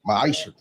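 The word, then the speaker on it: מעשר: chapter 3 verse 8-10 means 10th in Hebrew and it's pronounced maisha 10% of every penny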